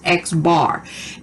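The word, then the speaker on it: x̄: the top of it this is pronounced x bar and it is the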